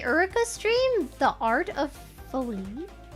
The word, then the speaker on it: Foley: Foley, not folly. Oh, I said it folly. I don't know. Look, different accents. Okay, I bet some people say it like folly. Foley, like mildly famous Canadian